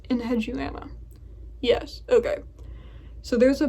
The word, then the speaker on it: Enheduana: But getting to my list, okay, I had to look up how to pronounce this. Enheduana? Does that look right? Enheduana.